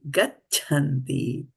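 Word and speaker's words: गच्छन्ति: Manīṣiṇaḥ, janma-bandha-vinirmuktāḥ, padam, this is gacchanty, as in chachi, gaccha, chanchal, chand, dacha, and then this is cha, as in chatri. So gacchanty. Try to pronounce the cha over here. Sometimes we skip over that.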